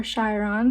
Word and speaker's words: Chiron: So with the wounded healer energy, the energy of Chiron or Chiron, depending how you pronounce it, it's an asteroid